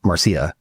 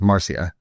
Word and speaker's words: Marcia: So your background from Brazil, being from California, obviously we have a lot of, Latina people that, would pronounce Marcia. Yeah. But that's not how it's pronounced. Marcia.